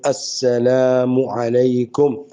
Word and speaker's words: السلام علیکم: لہذا اس کو اچھی طرح سمجھ لیجیے، سلام کا تلفظ صحیح ادا کیجیے، السلام علیکم ورحمۃ اللہ وبرکاتہ.